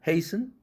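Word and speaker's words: hasten: 단어 글리스튼, 또 패스튼, 글리스튼이 아니라 글리슨, 패슨이죠. 소프튼이 아니라 소픈, 헤이스튼이 아니라 헤이슨, 자음 철자가 그 은 앞에 있는 이라는 철자는 무조건 여기서 발음 탈락입니다. silent letter입니다.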